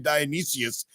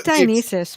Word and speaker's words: Dionysus: I keep saying Dionysius, and I think it's Dionysus, right? I don't know. I'm not Greek. I could care less. It's Dionysus, but I just started matter.